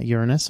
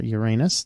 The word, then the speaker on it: Uranus: work in a planetarium it's pronounced both ways um I've actually heard